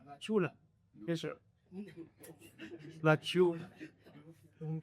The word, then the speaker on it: La Chula: How do I pronounce it? La Chula. La Chula.